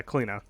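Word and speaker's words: Cliodhna: a pronunciation of the character's name but yeah kalina that's how you pronounce it um increase the tick rate uh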